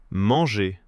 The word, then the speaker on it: manger: Alors qu'en réalité, "manger", ça se termine juste sur le son "é", comme s'il n'y avait pas de "R" du tout ? Exactement. "Mangé", "parlé", "aimé". Le "-ER" à l'infinitif sonne exactement comme un "É" tout simple.